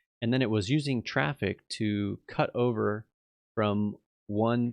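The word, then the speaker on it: Traefik: one was using um traffic as a reverse proxy uh traffic TR it's always funny one to spell it's not t r a e f i k is the the name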